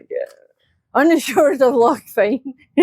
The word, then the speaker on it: Fyne: On the shores of Loch Fyne. It's very fine, isn't it? Which is on the Cowl Peninsula. Yeah. It's Loch Fyne, but it's spelled F-Y-N-E.